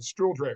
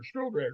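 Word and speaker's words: Stuhldreher: Stiller. Stiller.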